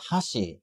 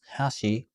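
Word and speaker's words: 箸: use chopsticks right well we call them hashi in centrally we also call bridges hashi with a slightly different emphasis on the pronunciation rule one the most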